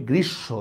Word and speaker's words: গ্রীষ্ম: যায় এইযে গ্রীসব দেখেন আমরা কিন্তু এটাকে গ্রীষ্ম বলি না আমরা এটাকে বলি গ্রীসব দেখেন সটাই আমি দুইবার উচ্চারণ করতেছি সটাই কিন্তু আমি দুইবার